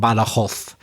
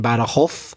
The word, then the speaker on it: Badajoz: Yes, first of all, apologies, Mamen, for my terrible impersonation of an accent from Badajoz. I know I'm exaggerating. You pronounce it, the Z in Badajoz, but I said Badajoz because I was doing my terrible pronunciation copy.